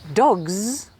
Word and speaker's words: dogs: feel it here cats but dogs finishes with a z sound you should feel it here dogs dogs so